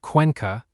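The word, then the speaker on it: Cuenca: Number three, Ecuador, specifically the highland city of Quanka, pronounced Quanka, a UNESCO World Heritage site sitting in the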